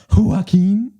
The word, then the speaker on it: Joaquin: for Ridley skies I mean it's just a Joaquin Phoenix looks great that's how you say his